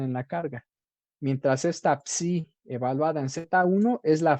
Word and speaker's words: psi: Por otro lado, la psi, esto comúnmente se pronuncia así, psi, ¿sí?